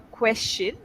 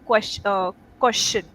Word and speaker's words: question: Uh when you asked me I have a question. It sounded like qu uh question. Co question. Okay. Question. Yes. Question.